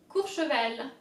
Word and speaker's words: Courchevel: Cour, so O-U is ou. Cour, remember the R's. You have to really get it from deep down as if you were upset. Cour, che, CH is sh, like sh. Cour, che, and then vel, that's easy.